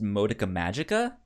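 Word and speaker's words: Madoka Magica: me I would say I believe it's pronounced modicum Magica oh yes like that you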